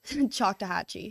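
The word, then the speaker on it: Choctawhatchee: Chakahhatchee.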